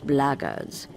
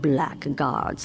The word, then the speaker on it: blackguards: If you're another one of those blackguards, and that's the way to pronounce it, not blackguards like that thug insisted it was, then my answer is the same.